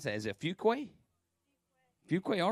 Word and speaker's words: Fuquay: How do you pronounce that? Is it Fuquay?